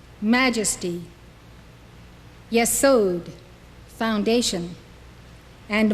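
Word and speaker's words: יסוד: Yesod, foundation.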